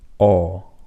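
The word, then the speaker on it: ㅓ: So the key difference between these two is that when you pronounce this one, you have smaller circle of your lips. So you have O compared to this, and this is Aw.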